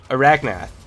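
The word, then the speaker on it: Araknath: laser does get to arath arachna arachna there we go that's how you pronounce it but he'll start getting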